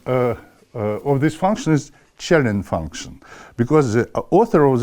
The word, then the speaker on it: Källén: Swedish physicist and uh it is written uh in all his books uh in all languages that his name pronounced Chelin.